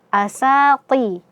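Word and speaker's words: أساطير: Jadi, cara membacanya adalah asati. Th bukan th ya. Th. Asati. Asati ru rul.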